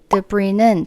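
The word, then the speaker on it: debris: The bre는 잔해, 파편 이런 뜻인데요. 끝에 s는 무음으로 발음을 하지 않습니다.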